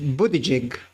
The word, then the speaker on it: Buttigieg: Transportation Secretary Pete Buttigieg. I think I pronounced it right.